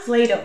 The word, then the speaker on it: Plato: appeared on patrick's screen i'm plato he said it rhymes with play-doh i'm patrick said patrick